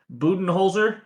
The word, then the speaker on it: Budenholzer: Budenholzer, is that how you pronounce it? I think you nailed it. Coach Awesome Coach job. Could be wrong. Budenholzer?